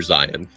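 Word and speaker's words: Zeihan: and look for Peter Zion you know Zion is spelled like zih H an or something like that yeah zih ha an it's and it's he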